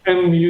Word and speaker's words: Mu: Kalau MU sendiri bacanya Mu sebenarnya, Pak, ya.